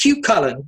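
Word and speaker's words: Cú Chulainn: getting off the one time chief said it's pronounced cute color with the smile and she said have a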